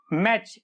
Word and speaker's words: match: मैच, MATCH, मैच, कैच, वॉच, often, soften.